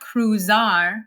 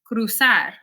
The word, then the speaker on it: cruzar: I'm not saying empezar, it's empezar. It's not cruzar, it's cruzar, almorzar, organizar. It actually sounds a lot more like an S in English than a Z.